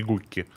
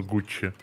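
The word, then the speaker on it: Gucci: Пусть радуется, что тебе все знают, как что их называть Гуччи, а не Гукки. Гукки? А кто-то назвал Гукки? Ну, оно же читается как Гукки. Это же надо знать, что оно Гуччи.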